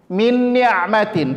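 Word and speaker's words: مِنْ نِعْمَةٍ: Maka cara membacanya adalah ditahan, didengungkan 2 harokat, yaitu bunyinya min ni'matin.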